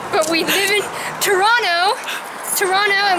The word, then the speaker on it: Toronto: Toronto, and we pronounce it Toronto because natives of this home and native land.